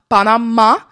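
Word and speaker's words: Panamá: There's an accent on the end of the A at the end of Panama. Panama.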